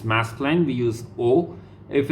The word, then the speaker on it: aux: so now the next one aux aux it's o okay aux iux it's all